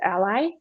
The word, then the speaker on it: a11y: the first one is the abbreviation a11y or sometimes pronounced as ally and that just stands